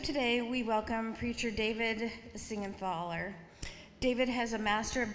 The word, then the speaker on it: Siegenthaler: Yeah, my name is normally butchered, but that was a very, very fine job. Thank you, Siegenthaler.